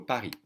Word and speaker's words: Paris: you should know that you don't pronounce the s and so it is